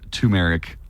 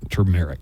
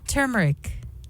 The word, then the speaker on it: turmeric: So, Buzz, you said turmeric. Turmeric. Wrong. Is that an R? T-U-R? Is that how it's It spelled? is. Yes. Turmeric.